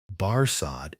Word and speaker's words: Barsad: "Barsad," said Defarge, making it French by pronunciation.